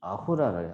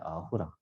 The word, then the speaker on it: 아후라: 그 자라투스트라의 원래 발음이 아후라래요. 아후라. 아까 우리가 인더스 발음할 때 SINDUS인데 S가 이란 쪽으로 가면서 H로 바뀌어서 내가 힌두스가 됐다 그랬잖아요. 아수라도 원래는 아후라였는데 ASURA잖아. 근데 원래 이게 S가 아니고 H였다 이거지.